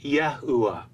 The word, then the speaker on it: Yahuwah: that defines for us how we should pronounce the last letter He in the divine name, which is always spoken as a short A or an Ah sound, and not the long A sound we hear in Yahweh.